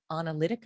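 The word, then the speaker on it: Onalytica: on Twitter, and has also been identified by Analytica, am I pronouncing that correctly?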